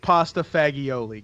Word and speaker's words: pasta fagioli: it's like it's weird suddenly it's Jeff it's pronounced pasta fagioli get it right opacity excuse me uh someone